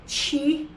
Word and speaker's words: Chiih: Now it's spelled Chiih, and it's called Chiih.